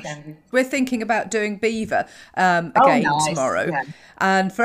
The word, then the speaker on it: Belvoir: We're thinking about doing Beaver again tomorrow. Yeah. And for anybody that's actually listening, Beaver is spelt B-E-A-V-E-R. Belvoir. So Belvoir.